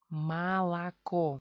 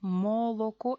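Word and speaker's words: молоко: No hay acento, pues se convierte en A. Aquí tenemos en la sílaba tónica O se convierte en A. Malaco. Moloco es mucho esfuerzo.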